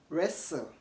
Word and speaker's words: wrestle: pistol pistol not pistol so notice that t is silent in those ways also T is silent